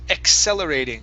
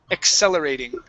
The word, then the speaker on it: accelerating: of cases you guys when we have a double C the first C is a k sound e the second C is an S sound cell accelerating accelerating good one more